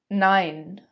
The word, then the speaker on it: nein: and I come together, it's pronounced as the English word I. For example, der Mai, der Mai. And you all know the famous German word, nein, nein.